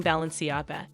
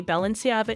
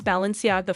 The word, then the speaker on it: Balenciaga: Chris Jenner for mispronouncing balenci and using the word ball several times no but say Balenciaga instead it's Balenciaga for her Balenciaga a ball I've